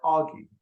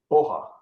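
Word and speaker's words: Aage: It's pronounced, I believe, properly, Oha, Oha.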